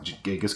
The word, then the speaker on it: Genghis: The Dothraki horde is basically based on the Mongols, like Genghis Khan, all these other things, Chinggis, however you want to pronounce it, depending on what era of historian you're reading from.